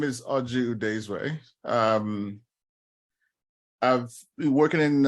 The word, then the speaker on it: Oji Udezue: you I think I I like the Irish pronunciation uh no my name is aju desray um I've been working in uh software technology